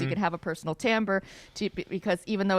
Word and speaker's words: timbre: And how do you pronounce it?" And I was like, "Oh, it's timbre."